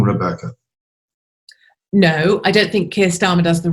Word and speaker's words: Keir Starmer: Is that how you pronounce it? Keir Starmer. Keir Starmer.